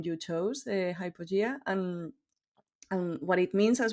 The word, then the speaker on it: Hypogea: This is Hypogea. This is a name. In fact, we are pronouncing it like English way, but it's Hypogea, which is a Latin word coming from two Greek words.